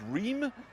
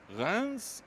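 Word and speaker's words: Reims: John with the delightful Alex port yesterday in GR which I always thought was re but that just shows what I know. Um but it's spelled R E I Ms and Rans and Epony are the capital of Champagne region.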